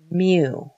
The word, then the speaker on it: mu: a longer tail on the left side it's pronounced mu so mu is the mean GPA of the